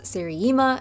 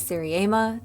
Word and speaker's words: seriema: I've heard this name pronounced both as seri-EEma and seri-AYma so as far as I can tell either way is acceptable.